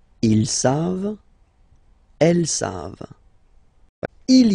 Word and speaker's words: savent: E-N-T, you don't pronounce it, so you get the sound savent, v-v-v-v, savent, okay?